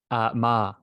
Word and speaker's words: Meagher: Ma. So it's pronounced the tricky Ma.